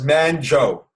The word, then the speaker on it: Manjo: Um, my name is pronounced as Manjo. So that's Manjo.